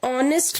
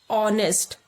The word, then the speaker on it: honest: An honest man, H is a consonant, but here H is silent. An honest, O की आवाज आ रही है.